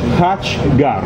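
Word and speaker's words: khachkar: La pronuncia è Kakkar. Me l'ha detto un'armena e ho anche dei filmati in inglese che mi parlano. Si pronuncia così.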